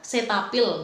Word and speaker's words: Cetaphil: Pengucapannya adalah Cetaphil, maaf soal itu.